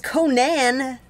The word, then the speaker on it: Conan: Sorry, you didn't specify that it was Conan, you know? Yeah, except Robert E. Howard pronounced it Conan, so... All right. I was going with the legitimate, original way.